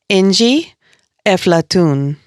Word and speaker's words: Inji Efflatoun: Inji Efflatoun.